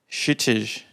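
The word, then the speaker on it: Kshitij: Shitish. Okay, that's good to know. So the K is silent, basically? Okay.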